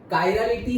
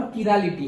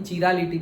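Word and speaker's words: chirality: Okay, optical activity है, कायरालिटी है और किरालिटी है। दोनों प्रोनाउंसिएशन होते हैं लेकिन चिरालिटी प्रोनाउंस नहीं होता।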